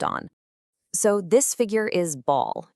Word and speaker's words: Baal: So, this figure is Ball. You might also hear it pronounced Belle.